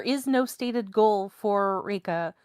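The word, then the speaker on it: Rieka: Her her name is spelled R I E K A, but it's pronounced RA.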